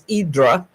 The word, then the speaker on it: Hydra: Hydra, which they pronounce Idra, there's no vehicles allowed on the island at all.